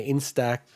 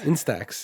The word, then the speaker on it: Instax: themed version of their in-stack in i always like mispronounce this instead instax yeah mini link polaroid